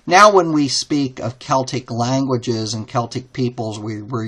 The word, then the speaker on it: Celtic: And the Gauls were a Celtic, or you sometimes pronounce it Celtic people.